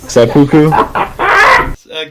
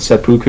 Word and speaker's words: seppuku: Seppuku.